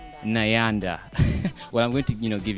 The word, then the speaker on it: Nyanda: NYANDA. Well, I'm going to, give you a Ugandan name. Yeah, okay. We have a name that rhymes with NYANDA.